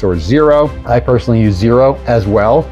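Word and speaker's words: Xero: zero I personally use zero as well zero is spelled x e o in addition to the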